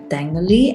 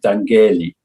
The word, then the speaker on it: Dangeli: today dangali dangly i'm sorry no g no g remember i really i tried to do it good in the beginning but he said it's okay if i don't pronounce it what's the worst butchering uh german the worst butchering of my name would be the one i grew up with dangerly i grew up in